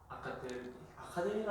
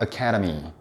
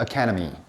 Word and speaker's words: academy: 발음 한번 해보세요. 아카데미로 하지 않나? 그거 오피시이고 정확한 발음은 academy. 자, 시작 academy.